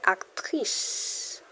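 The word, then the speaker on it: actrice: You say actress. A c t r i c e.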